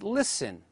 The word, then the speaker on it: listen: as night light taught the letter T in such words as listen whistle the letter K as in